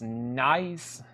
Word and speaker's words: Nuys: It's pronounced Nice. The Van Nuys Boulevard.